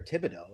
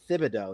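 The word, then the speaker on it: Thibodeau: be a uh or I'm sorry, Thibido is how that's pronounced, but his nickname is Tibs, which doesn't make any sense to anybody.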